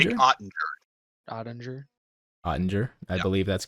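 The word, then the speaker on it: Jake Oettinger: Yeah, I need you to pronounce the goalie's name. Jake Ottinger? Jake Ottinger.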